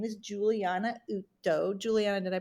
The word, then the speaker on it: Uto: Her name is Juliana Utto. Juliana, did I pronounce that correctly?